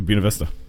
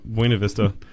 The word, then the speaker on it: Buena Vista: Buena Vista. Buena. Yeah, Buena. Putting the accent. You're putting the accent on the wrong syllable.